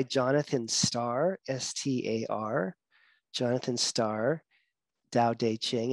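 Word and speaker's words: Tao Te Ching: starr s-t-a-r jonathan starr dao dei ching and dao is spelled t-a-o-t-a-o dao de ching is t-a-o-t-d-t-e c-h-i-n-g so dao dei ching so it's the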